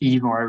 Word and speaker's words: Ivar: pronounced Ivar with a long E.